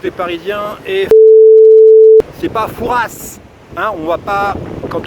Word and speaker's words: Fouras: bien ici c'est pareil on vient à fouras vient s à la fin mais ils se prononcent pas voilà donc vous avez